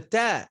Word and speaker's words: ت: So the ta, it's not like the letter T in English. There should be no thrust of air coming from between the teeth when pronouncing it.